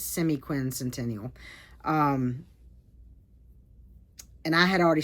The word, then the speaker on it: semiquincentennial: try to finish before the United States's semiquincential. Did I say that right? If I didn't say it right, I'll put the word across the screen at screen. I think it's semiquincentennial.